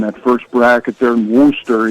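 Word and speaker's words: Worcester: first bracket there in Worster. You got to say it like they say it with a lobster in the mouth.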